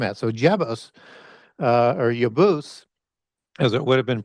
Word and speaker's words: Jebus: So Jebos uh or Yabus as it would have been pronounced with the J being a Y would be the patriarch for the Jebusites and so on and so forth.